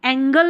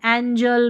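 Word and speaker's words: angel: एज, ठीक है, ज पढ़ेंगे, एंगल नहीं पढ़ेंगे, एंजल, ब्लज, चेंज, यहाँ पर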